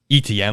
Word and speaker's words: Etienne: It's ETN. There's no ch in there.